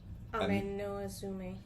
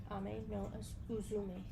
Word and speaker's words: Ame-no-Uzume: Then there is, and I know I'm not going to pronounce these right, another goddess. Ame-no-Uzume. Ame-no-Uzume? Ame-no-Uzume.